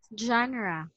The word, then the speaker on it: genre: pour now this okay as you can see it's letter e right but we pronounce yes genre it's like letter A yes again Jana Jana